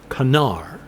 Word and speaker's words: Connor: be closer to Dantiel and Connor is closer to Canar but I'm going to